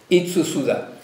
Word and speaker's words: Itsu Tsuda: Ça se prononce comme ça, Tsu Tsuda. Itsu Tsuda, pardon. Itsu Tsuda.